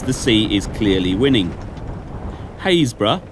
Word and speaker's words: Happisburgh: Haysborough, or as it's spelt, Happisburgh, the cliffs are retreating at a yard a year.